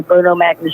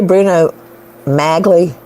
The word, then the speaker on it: Bruno Magli: that he owns just like OJ and the Bruno Magnus shoes come on that's huge to me did you say Bruno magli did you just say that I don't know